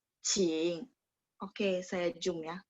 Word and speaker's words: 请: Q bacanya CH. 请.